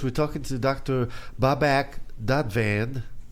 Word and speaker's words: Dadvand: Babak Dadvand. Am I saying it correctly? You're Dadvand. perfect.